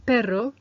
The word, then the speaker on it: perro: meaning misses number two the missing letters was the double R that gives us that rolling R sound array and that is for the word perro meaning dog number three the tricky sound